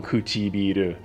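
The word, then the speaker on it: 唇: And it's one kanji, but it's 4 syllables long, Kuchibiru.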